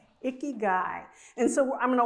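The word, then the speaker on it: ikigai: It's icky guy. Icky guy.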